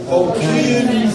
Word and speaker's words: aucune: La prononciation c'est aucune. Là, ça, ok?